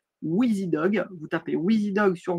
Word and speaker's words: WIZIDOG: Ça s'écrit WIZIDOG. Wheezy Dog.